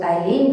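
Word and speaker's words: ptyalin: also known ए टाइलिन जिसम P silent है तो इसका नाम है टाइलिन नाउ व्ट इज द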